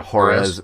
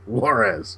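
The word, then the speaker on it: Juárez: down to uh to hores hores Mexico is that how you pronounce it I'm Sor horz hores yes to go battle the say say it with me Warz Warz Warz there you go go battle the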